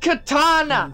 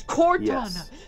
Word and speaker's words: Cortana: has made her choice it is not pronounced Katana it is Cortana spelled with a c I have it the